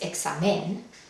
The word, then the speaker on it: examen: veremos algunos ejemplos más la palabra examen acaba con n entonces está en esta lista entonces sabemos que el lugar natural donde debería de caer la sílaba tónica es en la última sílaba al dividirlo vemos que si cae en la penúltima exa no es examen si sigue la regla la sílaba acentuada es la penúltima entonces no requiere el